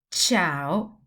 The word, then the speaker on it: ciao: The other variation of the letter C is the soft sound, which is ch, like chocolate or church. For example, I will say cellulare, città, ciao, cioccolata. And that's when the C is always followed by E or I.